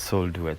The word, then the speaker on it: Soul Duets: you've written it so it's either sold Duets or Soul D Duets no it's soul duet okay tell me about